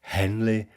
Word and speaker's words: heavenly: And here, heavenly is pronounced as two syllables, henley, and never as one.